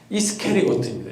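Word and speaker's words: Iscariot: 그러나 또 다른 해석이 있는데 그것은 적지 않은 또 많은 성경학 학자들이 주장하는 것은요, 이 가룟의 본래 발음이 무엇이냐? 이스케리오트입니다. 이게 좀 더 정확한 발음이에요.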